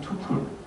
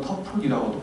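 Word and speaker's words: tuple: 행이라고 불렀던 걸 관계형에서 투플 또는 터플이라고도 발음합니다 영국 타로 미국 다르니까 전체 값이죠 이걸 칼럼 또는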